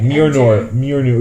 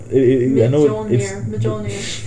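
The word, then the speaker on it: Mjölnir: It's Mjolnir. Mjolnir. Okay. I don't know. The J is silent. That's what I remember. Everyone pronounces it. The IGN review for God of War didn't pronounce it like Mjolnir or something like that.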